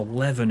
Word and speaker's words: Leven: So Leven is firmly stuck in my mind, and it's spelt exactly the same way.